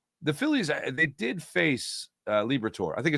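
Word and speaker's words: Liberatore: I always say his name wrong. It's Liber Liberator. Liberator.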